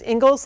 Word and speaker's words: Ingalls: um or uh and the last name Isles like Little House on the Prairie that's how it's spelled